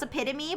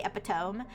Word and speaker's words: epitome: I've always known how to pronounce epitome, but I've heard plenty of people say epiome.